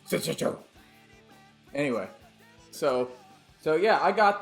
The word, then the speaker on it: Senjutsu: Senjutsu. That's the proper samurai pronunciation of the new Iron Maiden album. Senjutsu.